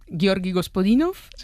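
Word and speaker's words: Георги Господинов: Ayúdanos a pronunciar los autores. A ver, Georgi Gospodinov, Zdrafka Eftimova y Vera Mutavchieva. Ahora sí, ahora sí. Perfecto.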